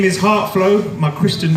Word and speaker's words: Hart Floe: interaction going tonight yards my name is Hart flow my Christian name is now I'm a Christian so that's why they call it at your first name my compelling name is Hart flow it's spelled har TF l OE that's not because